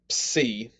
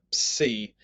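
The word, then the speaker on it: psi: the next one is c so the way you say the c is you start off like you're saying a p sound and then an s sound with an i at the end comes out c it's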